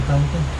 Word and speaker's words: tanto: No tanto. No tango.